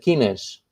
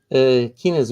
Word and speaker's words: quinas: That's why when we Portuguese mention the Portuguese football team is the quinas. Okay. How do we spell that? Quinas with the Q U I N A S.